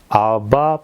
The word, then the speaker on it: 아바: 여기서 아버지는 헬라어 원어를 보게 되면은 아바 파테를 이렇게 되어 있습니다. 이 아바는 좀 발음을 세게 하면은 아빠입니다. 아빠.